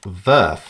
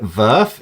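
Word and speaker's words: VRF: what is ammac ver I call it verth you might call it different things you know different ways to pronounce virtual rooting and forwarding I I'm just calling it ver it's just my way of doing it okay so I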